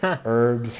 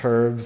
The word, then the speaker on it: herbs: herbology and I know in Australia you guys pronounce the H a little bit more than we do here in the States. So, herbs, herbs, same thing.